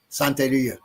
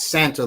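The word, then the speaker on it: Santería: Santia is spelled S A N T E R I A. Santia, not Santa like like Santa uh the old from the North Pole and It's not Santa.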